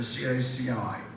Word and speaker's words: CACI: Steve Olive he's a strategic growth director for caci which is pronounced it says to me c-a-c-i so I